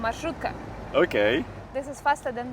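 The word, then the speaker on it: маршрутка: Marshrutka. Marshrutka. Marshrutka. Need to pronounce the R sound.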